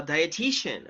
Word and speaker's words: dietitian: exactly you say uh dietitian okay so this is another word that is kind of difficult to be pronounced so let me write down the pronunciation okay da diet shen i'm a dietitian dietitian